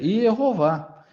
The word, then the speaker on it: Jeová: Ele já está dizendo que a pronúncia do nome de Deus é Jeová, visto que os nomes